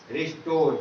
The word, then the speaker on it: restore: to, Lord, Lord, restore, रिस्टोर। क्या पढ़ेंगे इसको? रिस्टोर। आर से रा, ई से ई, एस से सा, टी से टा, ओ से ओ, आर ई, आर से रा, ई silent, रिस्टोर, आई टी इट, आई